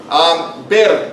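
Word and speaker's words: بر: I was saying it more like something that people drink here in the United States. Bir is the correct Arabic pronunciation.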